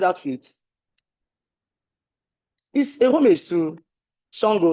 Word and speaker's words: Sango: And this is a homage he pays to Alafin Sango, an ancient Yoruba king. Is it? Okay, Shango.